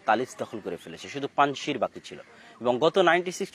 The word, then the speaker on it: পানশির: আমরা পানশিরের কথাটাও বলতে চেয়েছিলাম যে পানশির, বা আমাদের বাংলায় লেখে পানশির, কিন্তু সঠিক উচ্চারণ হচ্ছে পানশির, 5টা নদীর সমাহার।